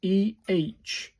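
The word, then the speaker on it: え: You can see that E, but this is pronounced as EH, like the E in men.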